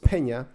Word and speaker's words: Pena: Pena, it's spelled Pena. It's actually pronounced Pena, but Pena 207.